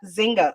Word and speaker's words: Nzinga: should we call her Nzinga, Jinga, Or Zinga. or Zinga? Well, the N is silent. I know the N is silent. The N is silent. So I would say it's Zinga. Zinga.